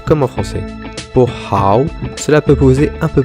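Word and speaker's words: 好: peu plus de problèmes tout d'abord en chinois le h1 pas silencieux et se prononcent de façon aspirer et gutturale en ouvrant bien dans l'amour la sonorité est assez proche du r en france et ensuite ne séparait pas le a et le beau la transition doit être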